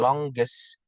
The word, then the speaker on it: longest: However, it would additionally predict that the comparative and superlative forms longer and longest will be pronounced with no g following the ng, while in fact the correct pronunciation of the word is longest.